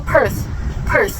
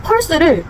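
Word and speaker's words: Perth: 호주의 도시 중에 하나인 퍼스 이것도 per per 이렇게 발음을 하 수 있 고요 제가 만난 그 일본인이 한 명 있었어요 걔랑 대화를 하는데 펄스를 아예 혀를 이렇게 물고 발음을 한다고 했잖아요 그런 식으로 발음을 하더라고요 스스 이렇게 하더라고요 이렇게 하는 것보다 입의 피로도 자체도 훨씬 적고요 그리고 듣기에도 훨씬 더 프로페셔널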